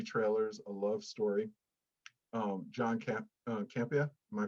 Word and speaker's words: Campea: this documentary, movie trailers, a love story, John Campea. Am I pronouncing that right? Yeah, it's a very rare Italian name, but yes, Campea.